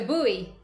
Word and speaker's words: buoy: It's a buoy. Buoy. Yeah. That sounds cute. That sounds like ooey in Buoy.